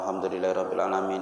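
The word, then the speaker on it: الحمد لله رب العالمين: Alhamdulillah, lillah, lamnya tasdid. Rabbil, baknya tasdid. Alhamdulillahi rabbil alamin. Kalau bacanya cepat, Alhamdulillahi rabbil alamin, baknya agak ditasdid. Alhamdulillahi rabbil alamin. Enak kali bacanya. Meskipun kita jadi makmum, baca tasdidnya itu harus kena.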